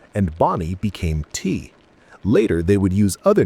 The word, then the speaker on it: Ti: Marshall became B and Bonnie became T. Later they would use other names with Marshall eventually settling on D pronounced like the musical note and T also a musical note.